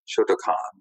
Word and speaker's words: Shotokan: spell it phonetically and it should be shotokan i don't know why